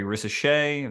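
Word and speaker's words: Risacher: nicoa toic and uh goodness Matas buellis Zachary risse that's how you say his name but the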